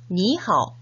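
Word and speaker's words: 你好: 그래서 중국인들도 이렇게 삼성이 연달아 오는 경우 앞에 삼성에서 반틈은 생략하고 뒷부분의 반틈만 발음합니다. 니하오 이렇게요. 원어민 선생님의 발음을 잘 듣고 따라 발음해 볼까요? 니하오, 니하오.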